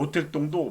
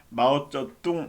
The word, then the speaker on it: 마오쩌둥: 그러니까 모택동도 마오쩌둥입니다. 그 나라 말은. 그래서 아직까지도 이제 모택동이라고 한 사람들이 많은데 마오쩌둥 해서 그 나라식으로 발음을 해주는 것이 옳다고 봅니다.